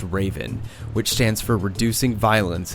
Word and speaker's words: RVN: Jones to launch Operation rvn pronounced Raven which stands for reducing